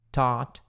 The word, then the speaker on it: taught: Had taught him. Tinham ensinado. Taught, não é thought, é taught.